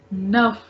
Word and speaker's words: neuf: sound of a, like nuff. So यहीं पे आपको exception मिल गया. Nuff. Here after F there is no vowel, but still I am pronouncing F. So this is the exception.